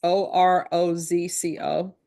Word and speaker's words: Orozco: And I know I'm mispronouncing that. It's Orozco.